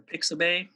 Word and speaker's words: Pixabay: So, and then I use Unsplash and Pixabay a lot, or Pixabay, is how you say that.